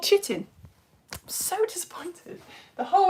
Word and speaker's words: chitin: And fungi cell walls are made out of something which I found out in the first Facebook lesson is not called chitin.